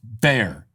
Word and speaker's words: Bexar: Matthew says, Bexar County is pronounced Bear County for future reference.